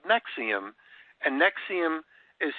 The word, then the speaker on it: NXIVM: ran an organization called nexium and nexium is spelt nx iv m so it's pronounced nexium as if it's nex ium but it's spelled nxivm and if you've wondered